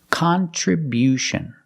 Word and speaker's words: contribution: hot and stop con contribution the other vowels stay the same but the stress is different contribution we see at the end with t-i-o-n you hear the sound like she and shoe contribution my contribution to